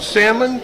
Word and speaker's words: Salmon: We have Will Farmer here, Karnveer Singh at the end, and, is it pronounced salmon? Yes, like a fish. Just like the fish, because I'm always tempted to say salmon, because that's the way it's spelled.